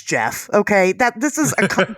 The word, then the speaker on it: Gef: You know, so anyway, and whatever it's it's Jeff.